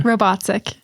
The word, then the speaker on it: Robatcek: I think I butchered that last syllable though. Yes. I think you did too. Say it one more time, Okay. Robatcek.